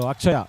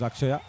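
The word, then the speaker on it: Atchaya: in in English so akaya actually is what the name is akaya and it is written as a t c h aaya that's how it is written in Tamil you know where there's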